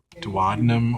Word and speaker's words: duodenum: The first portion of the small intestine coming out of the stomach is the duodenum or duodenum, either term or either pronunciation.